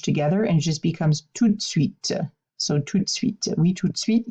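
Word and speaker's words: tout de suite: kind of smushed together and it just becomes too sweet so treat sweet sweet sweet yes right away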